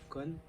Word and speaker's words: côn: Donc en vietnamien, ça se prononce con, d'accord?